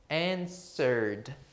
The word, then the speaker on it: answered: muita gente tem a dúvida por causa dessa pronúncia estranha, né? Que é o verbo responder no passado. É answered. Imagina aqui, olha, um N. Lembra dos pronomes de tratamento? Senhor, senhora. Então, answered.